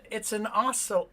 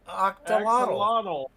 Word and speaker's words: axolotl: It's an octolotl. Axolotl.